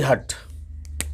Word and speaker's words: hut: और हर वर्ड में अलग अलग यू का उच्चारण है। जैसे पहला देखें, पहले लेटर में मैंने लिखा HUT हट।